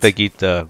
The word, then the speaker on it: baguette: It's pronounced baguette, but.